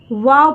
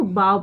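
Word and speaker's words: bow: और मैं नॉट नहीं वाव पढ़ा जाएगा बी ओ डब्ल्यू को वाओ यहां पे इसको वाओ पढ़ा वाओ डाउन यानी कि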